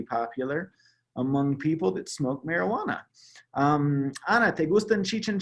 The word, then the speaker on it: marihuana: Marijuana. So the H is silent.